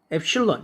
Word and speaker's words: 엡실론: A는 엡실론. 이걸 엡실론이라고 읽어요.